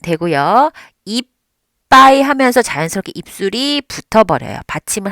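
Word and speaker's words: いっぱい: 이빠이 하면서 자연스럽게 입술이 붙어버려요. 받침을 하는 순간부터 입술이 붙습니다. 네, 이빠이라고 세 박자로 발음하시면 안 돼요. 지금은 글자가 4개, 4박자로 발음하셔야 돼요.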